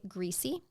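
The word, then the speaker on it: Griese: small area is Leroy greasy g r i e SS e I'd pronounce is it greasy yep he was um described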